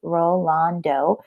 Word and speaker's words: Rolando: and then the metacarpal with a rolando fracture you have three syllables rolando so you have at